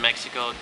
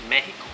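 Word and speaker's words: México: they don't realize that they have to say it's Mexico. Not Mexico. Because when I was growing up, I thought you pronounce it with the X, so it's like Mexico and shit.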